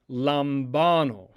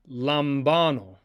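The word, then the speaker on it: λαμβάνω: The letters are lambda, alpha, mu, beta, alpha, nu, omega, and therefore it is pronounced lambano, lambano, lambano, lambano.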